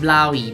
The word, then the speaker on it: Blåhaj: I've also been extensively corrected with people telling me that Blahaj is pronounced Blaui, but I apologize to Mia Mulder and the Kingdom of Sweden, saying Blahaj is much more fun.